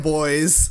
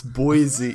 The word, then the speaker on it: Boise: These are all designed by TJ Schwartz in Boise, Idaho.